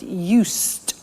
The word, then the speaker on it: used: continuous so i'm getting used to speaking italian every day listen to the pronunciation i said used with t sound used not used or